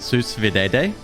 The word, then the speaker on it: sous vide: It's pronounced sous vide.